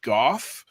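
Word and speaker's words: Gough: you and susan goth trying to get the pronunciation of her name uh so that way when we talk about her we were pronouncing her name correctly and it is indeed goth this is the email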